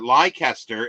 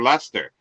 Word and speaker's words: Leicester: yeah I well I I actually pronounced that lycaster every time I read it like Esther because with a hard C for for Lester uh and because but